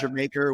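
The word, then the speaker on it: D'yer Mak'er: more times Journey dire maker which is actually pronounced your maker which is reggae you know it's like there's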